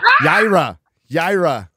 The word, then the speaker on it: Yaira: Did I say it right? Yaira. Really well pronounced.